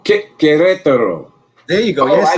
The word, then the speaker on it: Querétaro: Querétaro. How do you pronounce that? It's Querétaro. Oh, Querétaro.